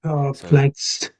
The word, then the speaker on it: perplexed: So, it's per purr. Then plex. P L E X plex. Plex. And then the ed is Yeah. Perplexed.